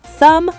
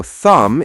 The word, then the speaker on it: thumb: Thumb, bomb, climb, comb, lamb. So thumb is thumb, bomb is bomb, climb is climb.